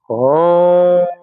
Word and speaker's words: ओम: का उच्चारण करेंगे ओम ओ, उ और म तीनों में बराबर-बराबर का अनुपात मुंह खोलकर ओ हो